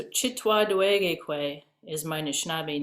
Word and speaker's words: Anishinaabe: Anishinaabe. You're going to pronounce all of these wonderful words way better than I can.